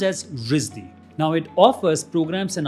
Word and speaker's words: RISD: It's Rhode Island School of Design, or RISD, pronounced as RISD.